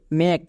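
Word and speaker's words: make: আসলাম নিয়ম কি ছিল কোন শব্দের শেষে যদি ই থাকে তখন ই সাইলেন্ট থাকে মানে এর উচ্চারণ করতে হয় না যেমন দেখো এম এ কে ই মেকে আমি একে মেকে বলছি না কেন কারণ এখানে ই এর উচ্চারণ হবে না তাহলে কি দাঁড়াবে এম এ কে মেঘ একই রকম ভাবে সি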